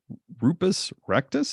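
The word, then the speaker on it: Rupes Recta: is uh is an escarpment otherwise known as rupus rectus is that how you say it's Latin I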